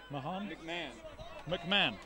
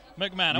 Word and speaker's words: McMahon: McMahon. You don't pronounce the H or the O. Tom, McMahon.